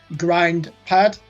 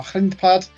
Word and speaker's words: Grindpad: I will spell that, or as an English person might pronounce it, Grindpad, which means gravel pad in Dutch, or grindpad.